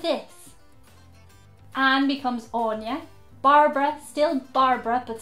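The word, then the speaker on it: Áine: There are other names like Andrew, which could still be pronounced Andrew, but spelt like this. Anne becomes Anya.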